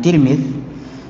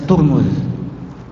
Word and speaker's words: Tirmidz: Ini ada 3 cara bacanya. Terkadang dibilang Tirmidz, terkadang bisa dibaca Tirmidz, bisa juga dibaca Turmuz. Jadi Tirmidzi, Tirmidzi atau Turmudi.